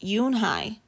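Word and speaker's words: Unhei: then to joey she nodded slowly yes it's pronounced yoon hai and it means grace mr kim added yoon hi joey said slowly and this time perfectly i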